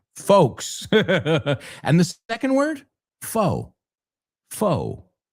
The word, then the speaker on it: faux: And the second word, foe. Foe. Esa X es muda.